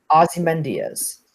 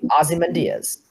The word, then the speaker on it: Ozymandias: All right, your options are A, Rorschach, B, Scarecrow, C, V, or D, Ozymandias.